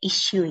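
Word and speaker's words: 一週: ada ini ada satu Shu kami itu dibacanya issue ya jadi Ichi Cukang itu dibacanya issue is you Comedy Nani Nani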